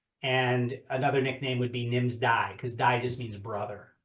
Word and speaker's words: Nimsdai: I'm going to hopefully pronounce his name right. Who is Nimsdal Prusa? Nims Nimsdai.